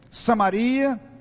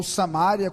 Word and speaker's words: Samaria: em Jerusalém na Judeia Samaria ou samária como alguns preferem pronunciar e até aos conf